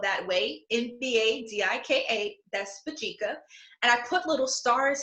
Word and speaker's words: Mbadika: So as you can see here, I have my organization's name, and yes, it is spelled that way, Mbadika, that's Mbadika.